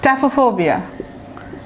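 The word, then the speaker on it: taphophobia: ট্যাফোফোবিয়া মানে রুটটা হচ্ছে ট্যাফো। দেখেন স্পেলিং কিন্তু PHE আছে, কিন্তু উচ্চারণটা কিছুটা ট্যাফো হবে।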